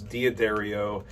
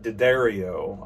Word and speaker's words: D'Addario: I read it as D'Addario, and we've had some back and forth, and I haven't got a chance to watch the video where he indicated that someone actually from the company pronounces it D'Addario.